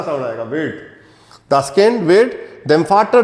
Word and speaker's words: wird: नहीं है ये, wird टा का साउंड आएगा, wird।